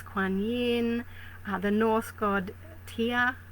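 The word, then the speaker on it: Tyr: And then of course we've got energies like Athena and the Goddess Bast, Goddess Kuan Yin, the North God Tia. I think it's pronounced T Y R.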